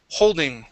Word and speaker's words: holding: let's go to hole holding holding shovels ah holding holding yeah okay ho instead of hull okay try that one more time go to an o sound ho holding holding